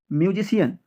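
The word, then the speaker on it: musician: কোনো শব্দ যদি কোনো পেশা বা কাজের সাথে যুক্ত কোনো ব্যক্তিত্বকে বোঝায়, তখন আমরা সেই শব্দের শেষে CIAN এর সন উচ্চারণ করব। মিউজিশিয়ান, মিউজিশিয়ান, মিউজিশিয়ান।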